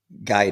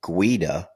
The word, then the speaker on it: Guida: They've since gone to, John and Michael were twins, but John and Michael Guida now. They're taking their actual Italian pronunciation of their last name.